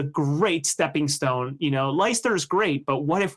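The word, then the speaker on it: Leicester: They just had someone go to finder who ultimately found finds him himself and in Lyster uh or Lester. Thank you. I my pronunciation is not great.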